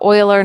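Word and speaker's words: Euler: The Uler number can be um see I just said it wrong. The Oiler number can be used to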